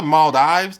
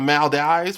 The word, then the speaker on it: Maldives: It's the Maldives, not the Maldives. The Maldives.